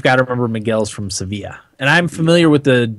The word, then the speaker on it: Sevilla: remember I'm from Seville I think it's pronounced seevilla Sevilla yeah at least that's the soccer team pronounced yeah that that's how